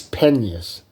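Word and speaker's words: Penas: um her maiden name it was spelled p-e-n-a-s and I didn't know how to pronounce it Penance or or um or peanuts like that but it's pennies Meritus penis so that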